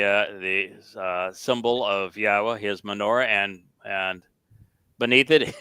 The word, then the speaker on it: Yahweh: to pronounce yahweh's name it's the uh yah and the ah are from the verb haa and the o sound comes from Torah so this is not